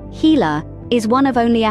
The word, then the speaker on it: Gila: its bold colors and unique venomous bite the Gila monster pronounced heila is one of only a handful of venomous